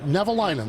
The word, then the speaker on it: Nevalinen: Nevalinen.